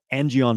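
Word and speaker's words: Angion: jumped on PornHub and sneezing onto a tissue angon method which is the penis exercises that develop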